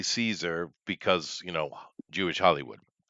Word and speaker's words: Caesar: Now, keep in mind we say Caesar because you know Jewish Hollywood, but uh at the time it would have it would have been pronounced uh uh Kazer or Kaiser.